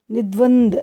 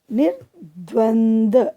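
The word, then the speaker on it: निर्द्वंद्व: निद्वंद, निद्वंद, नी द्वंद, द के ऊपर रे पे नीचे ब लगी हुई है, फिर से द है उसके नीचे लिखा हुआ है, तो ये कैसे उच्चारण होगा? निर्द्वंद, निर्द्वंद।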